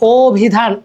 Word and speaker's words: অভিধান: হ উচ্চারণ আসতেছে না, তাই অভিধান, ও এখানে স্বরীয় আছে, বাট আমরা উচ্চারণ করতেছি কি অভিধান, ও উচ্চারণ করতেছি, ঠিক আছে।